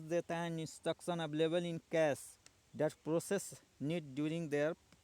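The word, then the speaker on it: cache: processor speed mismatch now C A Memory pronounced cash is commonly used for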